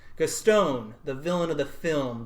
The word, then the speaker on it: Gaston: I stopped listening after you pronounced his name Gaston. So, Gaston.